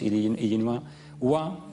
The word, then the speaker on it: Illinois: igua yinua en francés estoy hablando pronunciando Illinois illua waa en franceses Oka por tanto jugando con